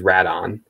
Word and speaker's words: Rodan: 93 film, in English, they ended up keeping the Japanese pronunciation, which is Radon. Typically, we've always said when the film came to the United States, they always called the creature Rodan.